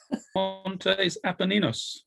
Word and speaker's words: Montes Apenninus: yourselves to have a go at trying to pronounce this feature on the surface of the moon. Montes Apenninus.